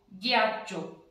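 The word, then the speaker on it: ghiaccio: ठीक है, जी आता ई जी, अब इसका भी शब्द बना के उच्चारण करेंगे, जी आता ई आ डबल ची ई ओ, ग्याचो, गियाचो।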